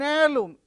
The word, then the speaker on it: heirloom: man an air an heirloom in all these five words the beginning letter is H but it is not pronounced so we have used